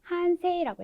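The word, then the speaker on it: 反省: 그다음에 반성인 경우에는 한세라고 읽어주셔야 되니까요. 한국어도 두 가지 발음이 있고 일본어에도 각각 다르게 발음을 하셔야 되기 때문에요.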